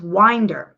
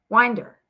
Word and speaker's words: Winder: The name Winder is pronounced Winder. Okay. The I is a long I, like in wine or tie. The E is a schwa sound, like the in mother. Winder, mother, or hurt.